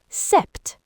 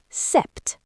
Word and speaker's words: sept: sept The P is silent. Listen again. sept Avery?